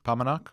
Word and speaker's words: Paumanok: kareem and how do you say it massoud paumanok there you go paumanok of pomenoc vineyards on